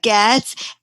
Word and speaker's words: Goetz: Actually, we don't pronounce the O, so it's Goetz, and I'm the author of 38 spiritual children's books that help children's souls to shine.